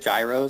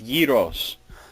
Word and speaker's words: gyros: So, is it gyros? It's yos. Yos. Yeah, that's how you would say it in Greek.